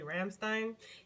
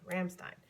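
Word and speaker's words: Rammstein: favorite band is actually ramstein yes that is how you pronounced it that is how they pronounce their name ramstein for those that want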